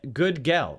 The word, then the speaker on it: Gudgel: mike can't say anyone how do you say his name it's good good good girl that's what i said i said good girl okay whatever good girl